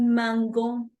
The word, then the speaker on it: mangeons: Entonces, es por eso que dejamos solamente en el pronombre nous, vamos a dejar puesta esa E. ¿Para qué? Para que siga pronunciándose de la misma manera, ¿sí?